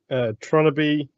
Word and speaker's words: Tronnabe: Like wannabe replacing the what with Tron. Yeah, I just put Trying Tron to see how and you then spell A-B-E. Wannabe is spelled Wannnabe. Okay, so it should be Tronnabe. Okay.